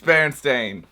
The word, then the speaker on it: Berenstain: So all you Berenstain people out there, you're wrong. It's Berenstain.